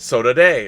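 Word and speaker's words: saudade: soda oh soda day so today is pronounced soda day brazilians would say so daughter soda but say it the portuguese way so today so today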